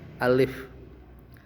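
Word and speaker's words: ألف: Ayo diikuti bacanya satu harakat atau satu ketukan. Alif. Jadi tidak boleh dipanjangkan alif atau alif ya. Jadi bacanya satu ketukan. Alif.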